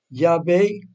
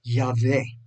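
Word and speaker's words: Yahweh: entonces este programa pero según los estudios estudiosos bíblicos entre ellos puede haber protestantes y católicos eso es el nombre se pronunciaría algo como ya ve en inglés se dice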